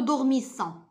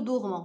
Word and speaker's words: dormons: On ne dit pas nous dormissons. On dit nous dormons.